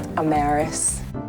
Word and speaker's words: Amaris: your host danielle i'm maris yes it is pronounced a marist don't ask my parents